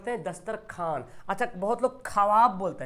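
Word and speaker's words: دسترخوان: है खाजा लिखा हुआ ख्वाजा लेकिन वो को साइलेंट कर देते ख्वाजा बोलते हैं है ना दस्तरख्वान लिखा हुआ है दस्तरखान अच्छा बहुत लोग ख्वाब बोलते हैं क्या हमें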